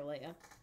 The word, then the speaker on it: Leia: of them call her Leah and some of them call her Leia yeah they also switch